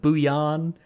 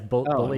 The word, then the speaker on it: bullion: My guild's been calling them bouillon, but yeah, it's bullion.